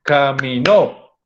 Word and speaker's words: caminó: Y miren, porque una cosa es decir camino y otra cosa es decir caminó.